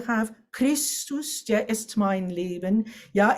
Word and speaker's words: Leben: Yeah, you feel Leben has 2 syllables.